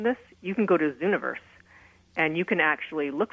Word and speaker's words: Zooniverse: Zooniverse, so it's Z-O-O. Hold on a second. I just actually have to make sure I have this right. It's like universe, but it has zoo.